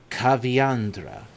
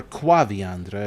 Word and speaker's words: Caviandra: ambassador and trader named Caviandra. And that is who you must seek. Caviandra. Cav or quaviandra if you want to pronounce the whole thing. I prefer I personally prefer caviandra.